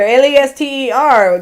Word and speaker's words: Leicester: Y'all call it Leicester, Lester.